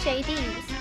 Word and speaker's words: Jaydes: I have a feeling your name is supposed to be pronounced as JD's. Cause it's clearly based on Hades.